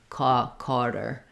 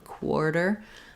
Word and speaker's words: quarter: saying it more like carter rather than quarter cotter carter it sounds a little accented to me like um regional u.s accents so i would try to go for a quar quarter um you can kind